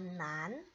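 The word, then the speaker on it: 男: Ini bacanya adalah nan.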